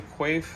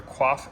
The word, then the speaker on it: Quaife: uh first things first we have a qua LSD or quaf LSD uh depending on what part of the world you're in how you pronounce that um really good unit